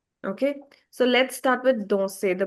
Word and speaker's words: danser: So, let's start with danser, the pronunciation. Now, see, when a verb ends with e, r, the sound is a. A sound in the end.